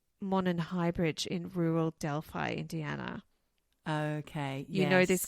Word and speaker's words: Delphi: Or Delphi. It's Delphi, sorry. Is it Delphi? It is Delphi. That's how they say it in America.